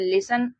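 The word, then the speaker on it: listen: एस टी एन इसको हम लोग पढ़ते हैं लिसन एल आई एस टी एन लिसन लिसन मतलब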